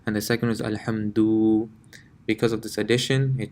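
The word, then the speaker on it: الحمد: So the first one would be pronounced Alhamdu. The dal is not stretched at all, it's a quick, you can say a quick touch of the letter Alhamdu. And the second is Alhamdu.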